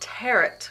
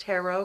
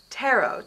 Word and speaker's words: tarot: Well, they're not tarot cards. They're pronounced tarot cards. Tarot, T-A-R-O-T, tarot. The T is silent.